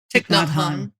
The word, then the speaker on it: Thich Nhat Hanh: Thich Nhat Hanh.